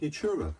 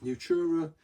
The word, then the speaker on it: nutria: Um, and it's made of a thing called Nutura. So, Nutura is um is spelled N U T R I A if